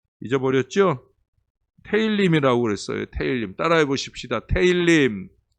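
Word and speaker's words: תהלים: 테일림이라고 그랬어요. 테일님. 따라해 보십시다. 테일림. 테힐림.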